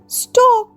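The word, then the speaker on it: stalk: Next যাই এস টি এল কে স্টক। স্টক মানে যেকোন গাছের ডাটাকে বলে স্টক। ফ্লাওয়ার হজ লং স্টক। ফুলটির একটা লম্বা ডাটা আছে। এল এর উচ্চারণ আমরা করবো না।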